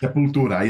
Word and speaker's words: Sepultura: But for a heavy metal band like Sepultura was my pronunciation good? That was good enough. Sepultura, yeah, there you go.